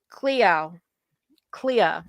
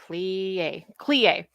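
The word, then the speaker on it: Codagh: His name is actually pronounced Cleo, or Clie, and it means graveyard, which kind of that sounds rather morbid.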